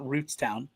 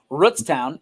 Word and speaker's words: Rootstown: Rootstown sitting at for and I was told it's Rutztown, not Rootstown the way that we say it here in Northeast Ohio. Uh Rutstown is at 14.